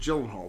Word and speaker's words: Gyllenhaal: boxing it's it's it's jill and gyllenhaal with the with the heart with the hard g uh so uh but